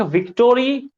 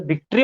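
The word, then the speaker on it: victory: There is nothing like विक्टोरी, अरे विक्ट्री मतलब समझो ना, विक्टोरी, अरे उसको एक्चुअल प्रोनाउंसिएशन विक्ट्री होता है उसका, ठीक है?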